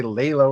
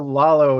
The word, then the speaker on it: Lalo: right okay great yeah Lalo yeah a lot of people say lay low or some other variation yeah are you if